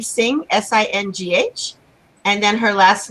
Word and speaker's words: Singh: And her name is spelled, and we pronounce it, yes? Yes. And then her middle name Singh, Singh, and then her last name.